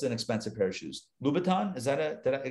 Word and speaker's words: Louboutin: try on what's an expensive pair of shoes louboutin is that a did i get that right